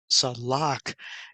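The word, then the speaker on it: צלח: So we see the word here comes from the word, the letters are Sade, Lamed, Chet, which is pronounced Salak, and it means to rush.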